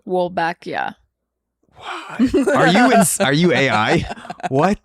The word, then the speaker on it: Wolbachia: It's the pronunciation, it's also Wolbachia. It's Wolbachia. Well, just because like I'm also familiar with like the Spanish pronunciation. Wolbachia. That sounds with a Italian. bacteria. It's also Italian too.